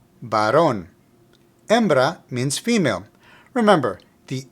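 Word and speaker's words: varón: them Baron means male note that there's an accent over the O so the pronunciation is Baron Baron embra means female remember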